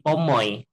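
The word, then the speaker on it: pomoj: Ya, ingat huruf J bacanya kayak Y gitu ya. Jadi pomoi, katoy, cevaloy tadi. Pomo artinya apel, berarti kalau pomoi artinya apel-apel gitu ya.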